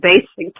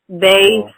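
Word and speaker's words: Baysick: There's a big Basic Talk orange and black and white banner behind my head on Facebook.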